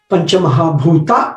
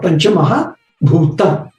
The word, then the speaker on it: Panchamahabhuta: And therefore, nothing to worry about Panchamahabhuta or Panchamahabhutam. It's just regional pronunciation.